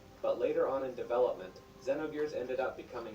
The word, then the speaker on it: Xenogears: Many people, myself included, thought the name of the game was pronounced with the letter ZE, as in Xenogears. However, the original trailer dictates it's pronounced Xenogears.